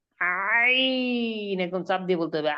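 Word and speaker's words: ع: করতেছি মাত্র দেখানো হবে জি কণ্ঠনালীর মধ্যখান হইতে আওয়াজকে চাপাইয়া আমরা পড়েছিলাম হা এখন হইতে আওয়াজকে চাপাইয়া একই মাখরাজ এখন হবে আইন একদম নাম দিয়ে বলতে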